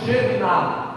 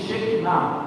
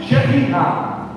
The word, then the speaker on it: Shekhinah: É um amor extraordinário, e esse amor é manifesto no Shekhinah, que erroneamente alguém diz Shekinah, pronúncia hebraica, inclusive bem derivado do ponto hebraico, Shekhinah, a glória da intimidade.